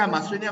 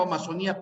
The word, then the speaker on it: amazonía: Sí amazonia amazonía sí puede ser amazonia o amazonía pero no es acento libre Por qué razón fíjense en el acento libre cambia el acento y el significado también cambia en cambio en amazonia y amazonía el significado no cambia es el mismo significado es